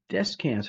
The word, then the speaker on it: Descans: Joseph Descans, hope I'm saying it right. How are you? I'm doing good. Yes, you did pronounce it properly, the way I say it, All at right, least.